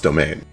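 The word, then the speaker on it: demesne: I do like but nobody pronounces it demens. It's just pronounced domain.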